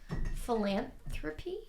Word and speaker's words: philanthropy: Speaking of like me getting caught on words, philanthropy. Yeah, you're saying it. Did I say it right? You said it really slowly. And you accentuated the P part.